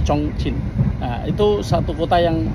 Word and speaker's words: Chongqing: Tulisannya Chongqing, tapi orang bacanya Chongqing.